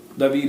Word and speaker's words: David: David is David. That's how you really pronounce David.